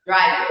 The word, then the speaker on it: driver: Então tudo vai ser um Sempre que você vê esse ER, vai pronunciar com som de e não de air, né?